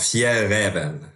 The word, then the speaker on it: Fjällräven: Genau, Fjällräven. Genau. Jeder kennt Fjällräven durch den Polarfuchs und den Klassiker-Rucksack. Wie spricht man den aus, Alex, bitte?